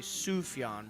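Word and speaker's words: Sufjan: his upcoming album Javelin is that how you pronounce it sugon I think sufyan I always thought it was sufian yeah maybe I don't know I heard Annie I heard Annie Clark say sufyan once oh that might be there's a Jay in there who knows how to pronounce that bad boy it's a silent Jay before I ever heard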